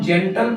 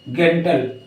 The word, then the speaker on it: gentle: अब जैसे लिखा है GENTLE, इसको हम जेंटल पढ़ते हैं ना कि गेंटल।